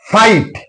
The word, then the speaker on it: fight: Fight, F-I-G-S-T. So, GH is followed by T, so GH is silent here.